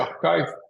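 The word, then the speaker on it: arXiv: torço aqui com esse nome estranho a gente pronuncia Archive é uma um uma biblioteca digital de papers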